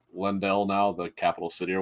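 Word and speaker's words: Leyndell: um I'm in I it's pronounced lendell now the capital city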